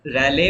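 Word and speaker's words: Rayleigh: That is द रैले wave. ठीक है, spelling is this रैले wave, है ना.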